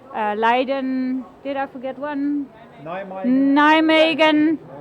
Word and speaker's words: Nijmegen: Nijmegen, it's pronounced.